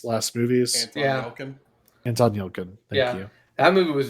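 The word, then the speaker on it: Anton Yelchin: movie Patrick Stewart movie I'm gon I'm gonna mispronounce this Anton yelton's last movies andon yilin thank you that movie was very good um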